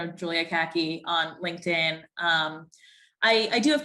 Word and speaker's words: Kahky: My Instagram handle is Kahky like the pants, but it's spelled my last name Kahky.